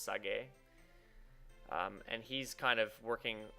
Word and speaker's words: Sage: It's spelt Sage, but apparently it's pronounced Sage.